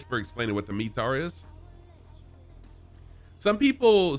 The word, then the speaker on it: METAR: for explaining what the me tar is some people some people pronounce it metar some people say meter um i i was trained it's metar so that's what i